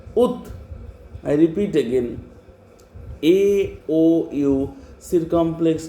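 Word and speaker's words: août: Where do we pronounce very fast? Ut. A-O-U, circumflex T. Ut.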